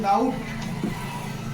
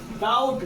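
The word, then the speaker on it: doubt: देखिए डी ओ यू बी टी है लेकिन उच्चारण में हम क्या करते हैं बी को साइलेंट कर देते हैं और उसे हम पढ़ते हैं डाउट इसका सही उच्चारण भी क्या होगा डाउट डाउट मीन्स आशा करना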